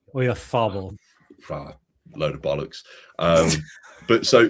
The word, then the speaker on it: Oyarzabal: You need a TH with the Z. Oyarzabal.